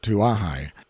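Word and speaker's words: Kawaihae: due course of time our journey came to an end at kawehai usually pronounced to ahai and before we find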